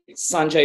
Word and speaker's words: Sanjay: No, Sanjay is fine.